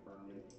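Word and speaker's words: Hermin: Oh, my name is Ermin. Ermin? Ermin. Okay. That's a good name. Yeah, Ermin the Ermit. Alright, Ermin. Ermin's with a silent H.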